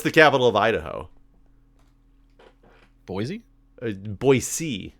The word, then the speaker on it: Boise: Boise is the real way to pronounce it, apparently. Boise. Not Boise, but Boise.